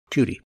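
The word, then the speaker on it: jeudi: French word for Thursday, Judy. I'm mispronouncing it slightly, but it's Judy.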